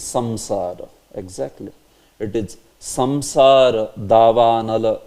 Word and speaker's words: Samsara: Like it is not Shamshara. Although Bangla devotees may pronounce it as Shamshara. It's not Shamshara. It is what? It is Samsara.